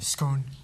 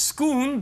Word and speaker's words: Scone: Scone. The Scone Stone? Really? Yeah. The Scone Stone? It's pronounced Scoon, but that is right, Ankit.